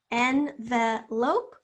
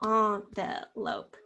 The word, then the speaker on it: envelope: So we're envelope or envelope? Which one do you say? If you can hear either way, envelope or envelope, you hear the schwa in the second syllable, envelope, envelope.